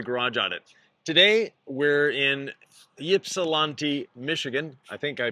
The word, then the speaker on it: Ypsilanti: So, first thing, how do I pronounce the name of the town? Uh we're in Ypsilanti. Ypsilanti.